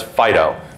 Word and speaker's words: FD.io: Typically FD.IO will be pronounced as FIDO because we're cutesy like that.